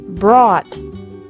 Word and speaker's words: brought: Brought. Brought. Buy. Bought. Bought. Catch. Caught. Caught. Fight. Fought. Fought. Seek. Sought. Sought. Teach. Taught. Taught. Think. Thought. Thought. Remember that the G is silent in these verbs.